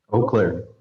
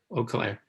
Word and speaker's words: Eau Claire: Eau Claire. Eau Claire.